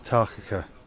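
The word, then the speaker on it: Takaka: I found out how to say it's Tarkaka, like the otter with a kakao on the end.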